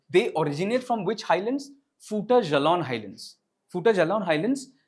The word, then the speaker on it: Fouta Djallon: It is pronounced as Fouta Djallon. Fouta Djallon is French. Djallon it's Fouta or Futa Djallon.